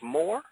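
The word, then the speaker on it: Mohr: I believe I would pronounce this as Moore.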